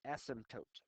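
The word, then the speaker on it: asymptote: but never reaches is represented by a horizontal ASM toote that's how you pronounce it spelled weird but it's pronounced ASM toote the ASM toote is the value on the graph it's the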